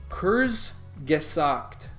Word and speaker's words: Kurzgesagt: It's Kurzgesagt. I spelled it? Did I spell it right?